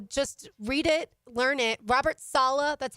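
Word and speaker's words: Robert Saleh: everywhere online so just read it learn it Robert Salah that's how you pronounce his name Thomas castalanos like we've talked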